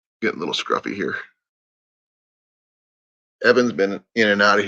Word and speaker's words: Evan: It's Evan, not even.